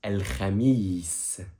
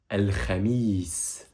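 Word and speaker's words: الخميس: Et ici, on le prononce al-khamis. Al-khamis.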